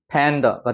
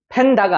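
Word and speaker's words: panda: 팬더가 되는 거예요. 팬다가 아니라 팬더. 그죠? 뒤에가 약해지는 발음.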